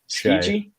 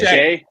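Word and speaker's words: Skjei: I'm going to butcher his last name. Skiji? It's just Shay.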